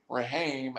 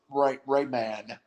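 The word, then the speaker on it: Raimann: from central michigan bernard rahim has gone he slides i can't i'm saying his name wrong i'm strike i'm it's like rayman it is gone to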